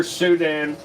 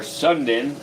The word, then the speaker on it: Sunda: The lesser Sudan or Sundan islands of Indonesia is the proper way to say it, but it's including the Komodo Islands, Flores, and the nearby islands.